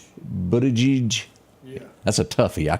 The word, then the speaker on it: Buttigieg: Pete, am I pronouncing this guy's name? Pete Buttigieg? How do you say? Buttigieg.